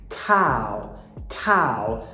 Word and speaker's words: cow: Cow. Não esquece a aspiração, porque assim como no gato, cat, esse k, ele está em posição tônica.